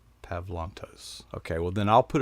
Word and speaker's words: Pavlantos: said it it's probably it's the softer sound of the a it's not it's not